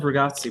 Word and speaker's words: ragazzi: She said good pronouncing of ragazzi, by the way.